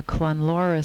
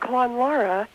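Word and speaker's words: Clonlara: Darya Brzezinski, and we have with us today Pat Montgomery from the Clonlora School in Ann Arbor, Michigan, which you heard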